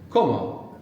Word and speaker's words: como: When it's to something, comer, and then when it's I, como, like in quiero, puedo.